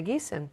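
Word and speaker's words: Thygesen: that's our that's our did I say wrong I I don't know I believe that was wrong okay it's a Geeson yeah I've said it wrong then okay anyway let's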